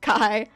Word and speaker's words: Chi: I'll say that no my name is pronounced Kai it just looks like it's spelled Chi also sadly I'm not